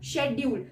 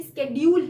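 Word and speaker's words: schedule: है जैसे for example शेड्यूल शेड्यूल बोल बोलते हैं इसको ठीक है लेकिन असली प्रोनंसिएशन इसकी स्केड्यूल है ठीक है तो तो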